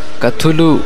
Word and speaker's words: Cthulhu: এরকমই এক কল্পনাপ্রসূত সৃষ্টি হল ক্থুলু বা সিথুলু। অবশ্য CTHULHU শব্দটি লেখকের মতে একটি এলিয়ান শব্দ, যার উচ্চারণ পৃথিবীর মানুষের বাকযন্ত্রের সাধ্যাতীত। কিন্তু পৃথিবীবাসী সাহিত্যানুরাগীদের কাছে ক্থুলু উচ্চারণটি অধিক গ্রহণযোগ্য হওয়ায় গল্পেও সেটাই ব্যবহৃত হলো।